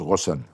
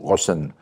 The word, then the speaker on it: Ghosn: En arabe ça se prononce Rosson euh et mais c'est difficile Rosson pour des Américains des Français ou des Japonais.